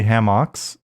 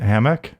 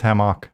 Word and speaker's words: hammock: it's still doing it why do you say ham ox isn't it hammock it's a hammock but my wife says hamak it is spelled with